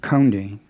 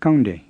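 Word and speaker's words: ကောင်းတယ်: and an aspirated k the plain one is the k you were saying in kande to be good it's not counting with an aspirated k like english and it's not gange with an english g it's kande with a plain k again it may help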